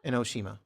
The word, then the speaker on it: Enoshima: Inoshima. That's That's how you say it.